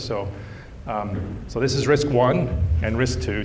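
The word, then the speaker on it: RISC I: um so this is risk one and risk two notice these are called risk one and risk two not risk I and riskk I I so it's not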